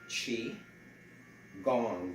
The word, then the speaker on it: qigong: in the header q-i chi gong g-o-n-g you could say chi gong or you can spell